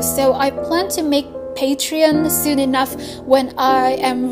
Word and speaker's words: Patreon: actual comic, I plan to open up a Patreon. But oh my god, What I meant to say is Patreon. Patreon?